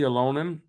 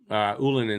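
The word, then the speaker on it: Ylönen: Jesse Alonen, Ullinen, excuse me. I keep still pronouncing it the wrong way sometimes.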